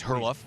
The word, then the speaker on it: Herluf: Well, I'll help you with the pronunciation. It's Herluf. Herluf? Herluf. Yep. Okay. And you said it's Swedish? Danish. Danish.